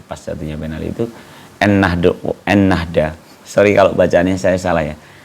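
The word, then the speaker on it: Ennahda: khawatir salah baca loh nnada bacanya gimana sih nnada n Nahda n Nahda ya en Nahda jadi eh berubah nama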